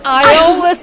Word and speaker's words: Ieolus: It is Ieolus. The E is for entertainment. Oh, is that and it is? You just it's a silent E. However, Ieolus really means the favor